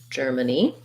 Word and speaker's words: Germany: has the same pronunciation so stress marker we have the j sound and then we have a stressed knee so letter a says the ah sound i'll reread it like this germ germany and then for russia